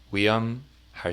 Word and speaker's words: 위험: Now, here you'll see the form 위험, pronounced, the H kind of gets left out a little bit.